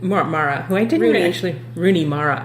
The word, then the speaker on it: Rooney Mara: yeah um played by Runa Mari who I didn't Mara who I didn't actually Rooney Mara I was Runa Mar I always want to pronounce her name wrong um I didn't actually